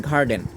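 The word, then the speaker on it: garden: যেমন আমরা লক্ষ্য করি জি এ আর ডি ই এন গার্ডেন কেননা জি এর পরে এখানে এ আছে এরপরে আমরা দ্বিতীয় যে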